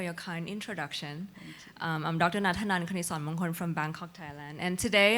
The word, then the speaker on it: Natanan Knitsornmongkol: Natanan Knitsornmongkol from Bangkok, Thailand.